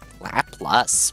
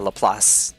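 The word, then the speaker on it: Laplace: They're like, "Laplas? What's Laplas?" And then I started writing out a lelass uh example, lelass transform and they were like, "Oh, lelass." And I was like, "Yes, sorry. I was just mispronouncing it with the integrals."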